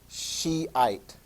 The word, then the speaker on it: Shiite: the other variant is Shiite that's how you pronounce that Shiite sometimes referred to as Shia the Persians are